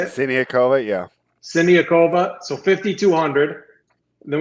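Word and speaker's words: Siniaková: The upset was Sinikova. Is that how you say it? Siniakova, yeah.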